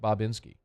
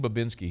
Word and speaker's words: Bobinski: okay I'm going Bob it's it's very clearly Bob it's Mike bobinski if he's saying Babinski he's wrong he's pronouncing his name wrong all right well whatever